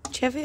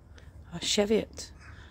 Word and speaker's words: Cheviot: from the jar and the dried chevy or cheviot however you would like to pronounce it and you can